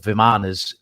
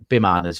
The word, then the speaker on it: Vimana: And that, if you look back in the Mahabharata and the Hindu texts, there's these flying craft called Vimanas. Bimanas, it's spelled Vimana, and these are large,